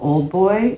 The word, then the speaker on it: Auldboy: And my journey led me to this really cool content creator called Old Boy. It's spelled AULDBOY. I guess with the accent, that is old boy.